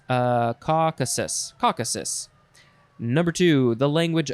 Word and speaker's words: Caucasus: one a member of a group of peoples of the northwestern caucus uh caucasus caucasus number two the language of the circassian